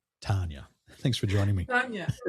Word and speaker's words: Tania: Like, a lot of people call me Tania in the UK. And so I always tell them, look, it's Tania like lasagna, and everyone seems to remember that.